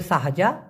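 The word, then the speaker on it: sahaja: হ্যাঁ তো এই হানিয়া অথবা সাহাজা সা হা যা উচ্চারণটা হবে সাহাজা সাহাজা তার মানে হচ্ছে শুধুই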